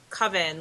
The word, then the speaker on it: Kavin: My first name um rhymes with oven. It's pretty much pronounced coven like a group of witches.